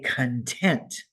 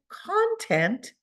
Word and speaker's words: content: the word content now be careful with this word and its pronunciation say content when we say content we see that I emphasize that first syllable and that makes it mean happy satisfied but if I said content then that changes the meaning I emphasize